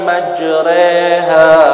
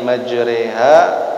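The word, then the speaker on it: مجراها: Kemudian ada terusannya bismillahi majriha wa mursaha inna rabbi laghafurur rahim. Nah, jadi jangan dibaca majra lagi.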